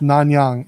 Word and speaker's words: Nanyang: we had the the black combat boot yes non-yang n-a-n-y-a-n-g huh can you just save that yeah